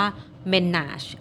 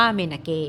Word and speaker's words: menarche: คน มี เสียง เลย บาง คน ออก จาก ว่า เป็น น่ะ บาง คน ก็ ออก เสียง ว่า มี นัก a นะ คะ สะกด ว่า m e n a r c h e นะ คะ อัน นี้